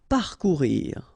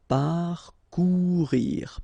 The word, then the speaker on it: parcourir: Parcourir. Okay, O and U together, ou, parcourir, parcourir.